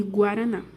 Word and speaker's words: guaraná: aqui com o guaraná você pronuncia todas as letras de guaraná o g e o u se você tirar a letra u vai ficar diferente vai ficar garan continuando Por que que